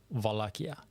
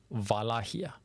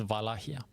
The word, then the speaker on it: Wallachia: You might also hear it as Wallachia. That's not how you actually pronounce it as a Romanian from that region, actually. This is just like the anglicization, basically, of the term. The correct way to pronounce it is Wallachia. No wa and no cha either. It's Wallachia.